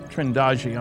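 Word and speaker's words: Trindade: And here's a sequence from Trindadi. Trindagi, I'm told it's pronounced, 600 miles east of the coast of Brazil.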